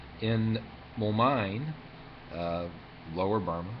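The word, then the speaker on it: Moulmein: In Momine, Lower Burma, and you do put the pronunciation, the accent on the second syllable, Momine, he says, I was hated by large numbers of people.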